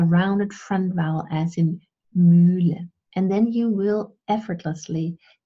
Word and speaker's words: Mühle: let's say you say Mule instead of Mühle, then I can say, no, it's not Mule as in Hut, but it's Mühle as in, well, in